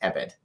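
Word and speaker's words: עבד: If for no other reason, then the Hebrew word used, which is spelled ayin beit dalet, pronounced ebed, is used in a diverse number of ways throughout the Old Testament.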